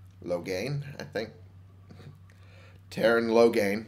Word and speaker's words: Loghain: were betrayed by Terran loghain Loghain I think Terran loghain I think that's how you pronounce it I might be wrong rhymes with Rogaine as far as I'm aware and the king and